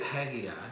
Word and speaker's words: Haggai: Look at Haggai. That's how I pronounce it. Everybody pronounces it a little different.